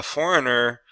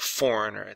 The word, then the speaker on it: foreigner: want to say a foreigner then you're going to say this word right Foreigner the g is silent Foreigner so you can